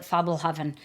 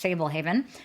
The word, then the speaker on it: Fablehaven: When my kids were reading it, we called it Fabelhaven, which I think we just were putting a little German flair on it. But I'm fairly certain that it is pronounced Fablehaven by Brandon Mull.